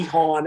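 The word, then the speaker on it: Haun: cody han pawn yes for the longest time i pronounced it juan and i feel really bad about that um i don't want to be that guy cody hahn and dr roberts where they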